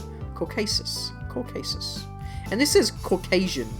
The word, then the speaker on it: Caucasus: I guess I was just thinking of the word Caucus thinking that was the region, right? Caucasus.